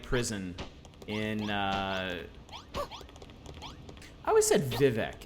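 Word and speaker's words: Vivec: in I was a Vivek is it Vivek or is it actually like Vevey or something someone once told me it's pronounced viv a yeah and the wizard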